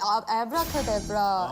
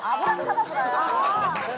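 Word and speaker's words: Abracadabra: 우리 엄마 그때 아브라카데브라 근데 미안한데 우리는 이런 노래를 한 적이 없어. 그냥 아브라카다브라야. 에브라카다브라는 없어.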